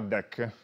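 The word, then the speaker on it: deque: dietro Alcune hanno un nome strano che si chiama deck scritto così non c'entra niente col mazzo di carte che si pronunciano allo stesso modo sarebbe Double and the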